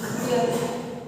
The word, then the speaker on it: beer: इसमें आप बोलते हैं जनरली इंग्लिश में लास्ट में जो आर होता है वो नहीं बोला जाता है।